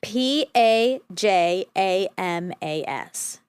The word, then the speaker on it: pajamas: supposed to happen Okay how do you pronounce the second syllable of this word I'm going to spell it again cuz I don't want to yeah don't lead the witness exactly p a j a m a s pajamas with the vowel in jam with the vowel in